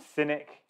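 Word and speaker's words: Sinic: And Cynic, and not spelled like C-Y, spelled S-I-N-I-C, and also Fujian Fusheng, two other property developers, have also defaulted.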